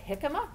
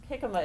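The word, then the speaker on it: jícama: but you're mad mex jicama is it actually the Spanish word because the J pronounces in HS is Spanish so your question was why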